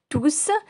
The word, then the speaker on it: tous: tous avec un s lorsqu'il est suivie d'un pluriel et on ne prononce pas le s voici des exemples il faut ranger tous les jouets tous les